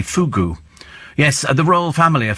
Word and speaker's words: fugu: I would never question your wisdom, Steve, for I'm but a mere regular spiker, but it's pronounced phonetically fugu.